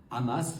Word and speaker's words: Hamas: du Hamas ou du ramas Hamas c'est la prononciation arabe Hamas et à la française voilà puisque je suis français je dis hamasi mais tous ceux qui